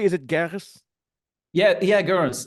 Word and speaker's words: Goeres: Yeah, Garris. It's actually a thing, right? To say that name right. It's in German, I would say Goeres, the O, but yeah.